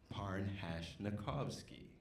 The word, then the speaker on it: Parnhashnakovsky: stonehinge like the monolith par hash novski you say it like you spell it